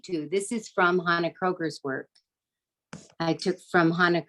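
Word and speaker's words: Kroeger: again oh hannah a-k-n-n-a and kroger k-r-o-e-g-e-r like the grocery store kroger that's that's correct yes yes kroger this is also the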